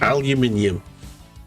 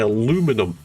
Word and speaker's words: aluminium: If you if you if you go through the word and you you you say it phonetically one syllable at a time, it's aluminium. And they they they miss a syllable out and say aluminum. There's there's an eye missing.